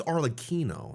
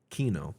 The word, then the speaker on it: Arlecchino: I think it's Arlecchino, not Chino. She's not a cappuccino. It's Arlecchino, right? That's how you pronounce it? K? Kino. Got it.